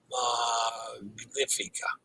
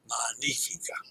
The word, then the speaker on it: Magnifica: Magnifica. I did that wrong, didn't I? I don't separate those syllables like I'm supposed to. All right. That's going to wrap me. Magnifica.